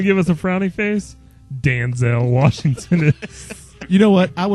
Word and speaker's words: Denzel: it's pronounced Denzel Washington.